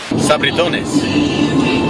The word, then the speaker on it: Sabritones: Sabritones.